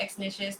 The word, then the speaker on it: Exnicious: Yes, so X Nishes, that's EXNICIOUS. It's actually pronounced just like it's spelled.